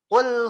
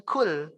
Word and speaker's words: qul: Contoh yang kedua perubahan huruf selain itu adalah qul huwallahu ahad. Ini pakai qaf, Pak, ya. Pakai huruf qaf. Qul, ya. Qul. Qa, qi, qu, baqa. Qu, ya, pakai huruf qu dia. Bukan pakai kaf, bukan kul.